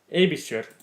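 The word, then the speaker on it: Aebischer: Abisher. That's how you pronounce his name apparently.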